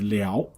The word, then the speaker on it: 燎: So this one has three pronunciations. Okay, when you pronounce differently, the meaning differs slightly. Okay, so the first pronunciation is liao.